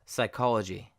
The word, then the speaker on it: psychology: word right here psy the P is silent and it sounds like psy for instance psychology psychological and then when